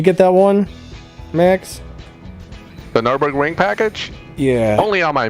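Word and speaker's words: Nürburgring: exodus um i did not get the lfa nuremberg berg package or i know i said that wrong i always say it right did you get that one max the nurburgring package yeah only on my main account i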